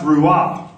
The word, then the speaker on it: Ruah: And Ruah, R-U-W-A, but it's pronounced Ruah.